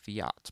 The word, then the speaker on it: Fiat: Fiat, if you are American or Italian, because they are Italian, it is pronounced Fiat because of that.